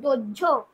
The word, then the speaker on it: দোহ্য: ভ্রি যুক্ত নিয়ত করে হচ্ছে ভার্য, দুহ যুক্ত নিয়ত করে হচ্ছে দোহ্য, হয় জফলা, দোহ্য উচ্চারণ হবে।